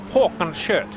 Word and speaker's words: Håkan Schött: Funny thing, yeah, funny thing is that the A with an O on top of it is actually pronounced O. It's a Swedish O, and it exists even in the Finnish alphabet, even though our O is pronounced differently. Language facts, in lap 4